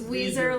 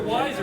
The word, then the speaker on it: Weezer: It's Weezer, like the band. He knows this. But I think you're wiser. That's why I say But that. it's spelled wiser, and we're all wiser because